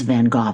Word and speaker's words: Van Gogh: And by the way, it is Van Gogh. I always said Van Gogh too, but I've now listened